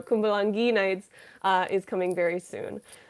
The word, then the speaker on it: Kumbalangi Nights: their movies definitely i'm cumbalan gee knights not g oh i said it wrong in my video kumbalangi nights uh is coming very